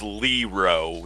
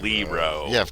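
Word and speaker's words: Leroit: The only reason I said that is because my grandmother's maiden name was was Lero. They pronounced it Lero and it was L E R O I T.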